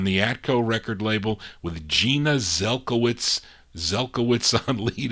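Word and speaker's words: Genya Zelkowitz: group now goldie her real name is gina or jenya yeah gina it's pronounced gina zelkowitz gina zelkowitz what a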